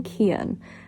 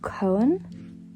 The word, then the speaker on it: Cohen: So, I've been calling him Kon. Apparently, it's Cohen. Like, it's said like that apparently.